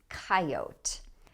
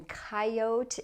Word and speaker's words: coyote: But some people say coyote. The pronunciation coyote is more common in the Midwest or in rural areas, but you will hear most people say coyote. That's the more common pronunciation.